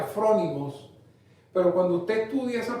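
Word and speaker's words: φρόνιμοι: es una palabra griega desconocida se llama se pronuncia from imos pero cuando usted estudia esas palabras from imos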